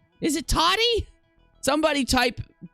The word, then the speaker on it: Tati: right then is it how am i saying it wrong again td it's toddy it's let me see where is where is it spelled at tati tati okay tati hey